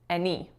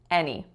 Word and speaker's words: any: was when I said any any so the strongest syllable should have been on that first letter a making the F sound any any the second word I